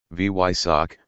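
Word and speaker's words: Weissach: Porsche's Fame test center say it like this V yck for instant credibility amongst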